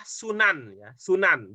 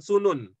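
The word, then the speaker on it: سنن: Eni baca senyum baik cara membacanya adalah sunan-sunan bukan sulun emoh itu jamak dari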